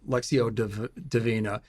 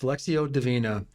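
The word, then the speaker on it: lectio divina: in a special way it's called uh um lexio deina and it's spelled l e c TI o d i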